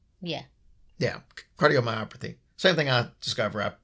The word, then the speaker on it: cardiomyopathy: U myopathy myop is that right yeah yeah cardiomyopathy same thing I discover I might want to learn how to pronounce it since I suffer from it too